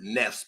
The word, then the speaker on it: nafs: which are the knots they actually pronounce it Nest but it's spelled nafs I don't know why